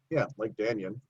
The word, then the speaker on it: Dannion: Dannion, spelled like Dan, like Dannion.